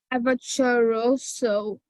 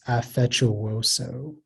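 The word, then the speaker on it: affettuoso: um it's AFE chooso avataroso here it's you're saying like you're saying an R sound it's not an R sound it's effectuoso may have all the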